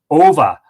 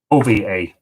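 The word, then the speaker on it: Odhbha: youtubers Oh bah-bah a and that is pronounced ova ova so era Mon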